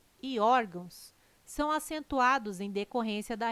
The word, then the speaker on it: órgãos: Caráter, intransferível e órgãos têm sua sílaba tônica na penúltima sílaba. São paroxítonas. Observação. Poderia gerar dúvida a palavra órgãos, mas ela não termina em O, termina em ão.